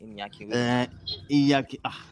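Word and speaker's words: Iñaki: Inaki Williams. Inaki Williams. Because The N is actually pronounced as Y. Inyaki.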